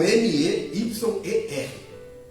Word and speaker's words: Meyer: Está escrito aqui com M-E-Y-E-R. Tá? A pronúncia nossa brasileira seria o quê? Meyer. Mas o correto é? O pastor Luiz falou certo ali.